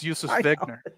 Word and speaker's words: Josef Wegner: If he was going with he was basically trying to go with the German pronunciation. Yeah, I know. But that's not how you would pronounce it. It's Josef Wegner.